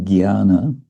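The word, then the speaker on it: ज्ञान: In North India, ginana is pronounced gana.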